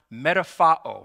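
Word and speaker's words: μεταμορφόω: And so that word transformed in Greek is pronounced metaphao.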